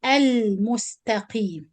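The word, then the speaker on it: المستقيم: So I give it tawassut time and I pronounce the lam because the spoon on the top, or this is Lam Qamariya and we're supposed to pronounce it clear.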